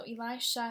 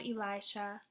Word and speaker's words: Elisha: So Elisha has an SH. We know the SH says sh.